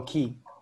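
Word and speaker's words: Qi: How do you pronounce Q-I? Oh, Key.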